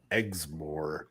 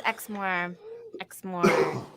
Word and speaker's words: Exmoor: today we're here for the Beast drink of eggsmore and the word now that is now eggs more is how you pronounce it right yes where's Kari yeah where's Kari when you need her it is Exmore and then that whole area they call the